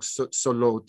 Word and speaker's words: salat: They're all written with a wow. But they're pronounced with basically an aleph. And I think your argument is, no, they've been pronounced incorrectly. Of course, a believer might have other ways theologically of working through it. But I mean, in terms of the primitive phonology of the text, they in the Hijaz, they would have been pronounced something like solot or hayot.